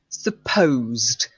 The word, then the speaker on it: supposed: And supposed. It's got what we call a silent E.